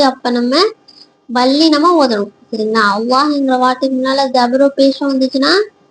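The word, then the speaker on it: الله: வெண்மையா உச்சிருக்கோம் சரிங்களா புரிஞ்சதுங்களா இப்போ அல்லாஹ்ன்ற வார்த்தைக்கு முன்னால தபரோ இல்ல அல்லாஹ்ன்ற வார்த்தைக்கு முன்னால பேச இருந்துச்சுன்னா என்ன செய்யணும் அந்த அல்லாஹ்ங்கிற வார்த்தையை வாய்நிறைய வல்லினமா ஓதணும் சரிங்களா?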